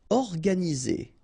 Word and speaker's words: organisé: Organisé, E accent aigu, et, organisé. Obèse, remember, E accent grave, est, obèse.